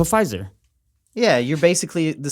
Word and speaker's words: Pfizer: tested the five jobs the silent p po pfizer yeah you're basically the